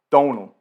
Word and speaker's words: Domhnall: My real name is Donal. It's an Irish name. It's spelled Domhnall. The great thing about that name is that most of those letters are completely silent.